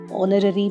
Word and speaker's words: honorary: Here, the correct answer is he is an honorary member of the club because H is silent here.